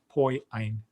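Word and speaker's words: ποιεῖν: syllable break right here because this is a diphthong oy and then this is another diphthong ein so you would have a um a a so it's poi ein if you try to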